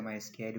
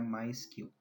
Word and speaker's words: MySQL: Na verdade, a gente não pronuncia MySQL, o correto é pronunciar MySQL.